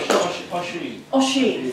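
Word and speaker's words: Oisín: Right, this is where I've got to apologise both to Japanese and Irish pronunciation. Oishin? Thank you, great. Oshin.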